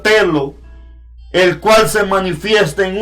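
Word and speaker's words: θέλω: un verbo en griego que se pronuncia telo, el cual se manifiesta en un sentido de preferencia y amor.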